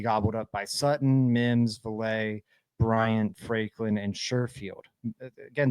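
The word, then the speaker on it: Vele: Now in the room, for those that don't know, you've got Sutton, Mims, Valet, and it is Valet. I saw a comment angry about that. That's the right pronunciation.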